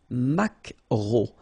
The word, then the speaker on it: maquereau: So technically this K, just pronounce it K, mac, macro, macro. Alright? And then E-A-U, remember when you combine these three vowels, you get the sound O, macro.